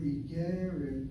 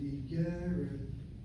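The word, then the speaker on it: אגרת: The word Igeret, notice how I pronounce it, Igeret, I'm hitting the second of the 3 syllables.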